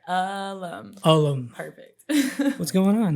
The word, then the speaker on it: Ulum: forgot how to say it I'm G say alum Alum perfect what's going on how are you